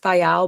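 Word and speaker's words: Viall: I know it's pronounced Vial, but I think it's more aptly pronounced Vile because he's a vile human and so is his wife.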